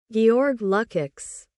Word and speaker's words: Lukács: Georg Lukex. Georg Lukex. Georg Lukex. essa pronúncia do nome desse filósofo Georg LX, né?